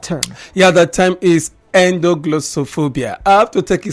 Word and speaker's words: endoglossophobia: wondering what it is, so you just say endo first, and then glosso second, then phobia. So ENDOGLOSSO, then the spelling of phobia PHOBIA. So I take that again. ENDOGLOSSOPHOBIA.